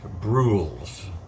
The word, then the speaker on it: Brules: Well, his name is Cat Bruels, which I'm going to think is rhymes with jewels.